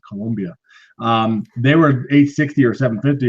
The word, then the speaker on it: Colombia: I had a customer in Colombia, I have to say it correctly, Colombia.